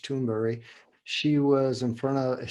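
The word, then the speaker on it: Thunberg: interesting greater toonberry uh toonberg i guess how they say it in english but swedish toonberry she was in front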